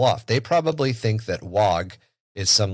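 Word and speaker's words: Waaagh: They probably think that WOG is some like super secret orc only blah blah blah. It's the Cockney pronunciation of the word war.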